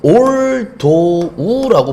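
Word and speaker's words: although: 기억 부탁드리겠습니다 다음 볼게요 자 발음이 좀 어려워요이 친구들은 올도우라고 보통 읽습니다 자 올드 뒤에 주어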